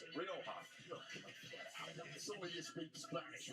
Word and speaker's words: Rioja: Ryoka.